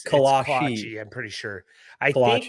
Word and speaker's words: kolache: I believe it's pronounced kolache. Trent is not Colossians, like the book of the Bible. Yeah, it's kolache.